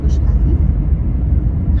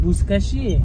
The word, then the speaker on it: Buzkashi: I wanted to see Buzkashi. How do you say it? The game with the people on horses and the goat. Buzkashi.